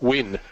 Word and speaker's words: Nguyen: It's pronounced Win.